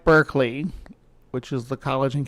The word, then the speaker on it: Berkeley: And the British guy says Berkeley, I'm going to say Berkeley. Even though it's spelled like Berkeley, which is the college in California.